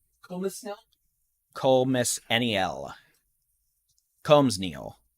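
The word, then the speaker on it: Colmesneil: So, Comus nil. Comus nil? Comus N-E-L. Combs Neal. The S is silent.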